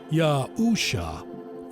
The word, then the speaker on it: Yahusha: The Savior's name in modern Hebrew is spelled Yod-He, Yuashin, Ayin, which is Yahusha, pronounced Yahusha.